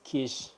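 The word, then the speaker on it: quiche: and eat with us oh it's pronounced as Kish I love your channel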